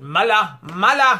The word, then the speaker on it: Mueller: When the whole Mueller, I call him Mueller, Robert Mueller, former FBI director, even though some pronounce it Mala, whatever.